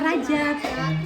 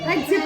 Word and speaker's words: Rajab: Ah, Rajab. Rejab ya bacanya Rejab. Rejab.